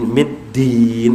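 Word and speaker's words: الدين: Maliki yawmiddin. Middin mempunyai shaddah.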